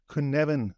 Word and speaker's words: Cynefin: this kuneven framework and the reason I'm trying to pronounce it that way is because I've only known it on text for for so long and the way you write it is not how I would expect you to pronounce it and I think it's because it's a a Welsh word um so but but